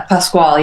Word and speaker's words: Pascual: welcome Pascal to the show am I pronouncing the name right yeah Pasquale yeah yeah that's what I thought yeah you're